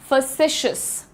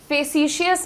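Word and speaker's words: facetious: फेसिशियस नहीं, फैसिशियस, जल्दी से बोलना है, फैसिशियस, मेरे साथ बोलिएगा सब लोग, फैसिशियस। ये जो मैं UH का साउंड लिखती हूं इसका प्रोनाउंसिएशन होता है अ, और इसको कहा जाता है द श्व साउंड।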